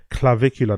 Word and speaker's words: Clavicular: Phonetic pronunciation. Clavicular. Big up Andy Ward, appreciate it, brother. Clavicular, that's his name, Clavicular.